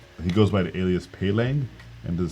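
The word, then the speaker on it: Peleng: an artist named, he goes by the alias Pelang, and to spell it out, it's P-E-L-E-N-G.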